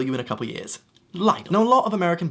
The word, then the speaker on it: Lidl: Coming in all the way from Deutschland, we have Lidl. Lidl is a good place to get cheap food that will probably kill you in a couple years. Lidl.